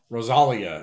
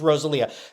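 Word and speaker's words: Rosalía: are named Rosalia right some people pronounce that name Rosal she's Rosalia the the accent G is over the I that is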